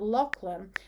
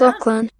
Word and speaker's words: Lachlan: So instead of saying it Lachlan, maybe if I type in and put a space in, if I say to them to pronounce it Lock and Len, let's listen to that. Lachlan. Yeah, so that sounds better straight away.